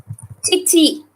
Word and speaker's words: chichi: For father, it is chichi. So while writing it, you have to use the chi syllable from the ta series.